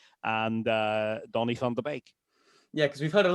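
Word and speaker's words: Donny van de Beek: And uh the de is probably intuitive to most people but the E sound is an A sound rather than an E sound.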